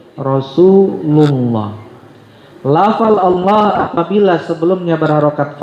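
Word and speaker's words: رسول الله: Contohnya Rasulullah ya tebal. Jangan Rasulullah, tapi Rasulullah.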